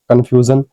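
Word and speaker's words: confusion: देखो एस आई ओ एन से पहले यू है तो सिंपल सी बात है। यू एक वोवेल है तो कंफ्यूजन हो जाएगा प्रोनंसिएशन जिसका मीनिंग होता है भ्रम।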